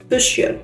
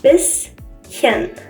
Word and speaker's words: bisschen: friend says it was bisschen, and she pronounced it as an esh, but it's not exactly an esh in this case, it's just bisschen, bisschen.